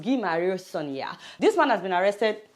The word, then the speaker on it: Guy Marius Sagna: This is the way it's written, but it's pronounced Guy Marius Sagna.